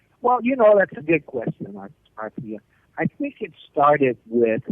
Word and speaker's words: Arthia: How's that pronounced? Arthia? Arthia, actually.